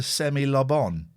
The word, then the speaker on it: semi-lobon: When I get half a tea cake, yeah, I mirthfully refer to it as a semi-lobon, stressing the first and third syllables as you would to pronounce Simon Le Bon.